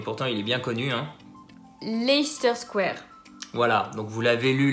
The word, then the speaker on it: Leicester Square: tous dur et pourtant il est bien connu leicester square voilà donc vous l'avez lu laisser ce terrain